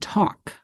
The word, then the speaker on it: talk: The same thing is true with the L in the word talk. That L is related to the L in tail and tell.